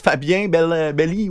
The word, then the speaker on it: Fabien Belli: C'est comment que ça se prononce, Fabien Belli ou je ne sais pas trop quoi? Exactement comme ça. Oui. C'est comme ça que je le présente, oui.